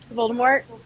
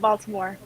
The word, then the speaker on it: Voldemort: Voldemort. It's not Baltimore. We've discussed this.